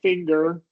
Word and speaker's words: finger: Uh, and the only time it is, we do hear it is if it's naturally in the middle of a word like finger, right?